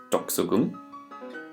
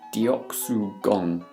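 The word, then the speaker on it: 덕수궁: place to visit now it should be pronounced something like doxogum but if you look at how it's spelled in the western alphabet and how we'd pronounce it in English as a result it'll be something a bit more like deoxyrgon now if you said this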